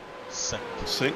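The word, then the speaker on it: Synq: It's with a Q. Sign a Q. Sonic. Sync is how it's pronounced, and Rich is he's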